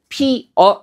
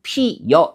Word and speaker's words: 피어: 그냥 피여라고 동일하게 쓰고 피어 이렇게 발음해도 되고 피여 이렇게 발음해도 된다는 얘기하고 있는 겁니다.